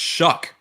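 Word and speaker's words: Shough: the oregon media guide it says shuck s-h-u-c-k as the pronunciation shucks pocket that for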